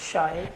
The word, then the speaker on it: Shy: that right make sure absolutely correct this shy it's short for like shy I am its tell